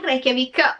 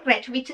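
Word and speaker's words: Reykjavík: social sapete già una cosa sono stata a Reykjavik o rechvich si pronuncia tutte e due le maniere o quanto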